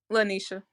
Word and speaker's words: Lanisha: Miss okay so am I pronouncing your name the correct way I want to make sure I got it right is it lenisha or lanesha Lanisha where you from Lisha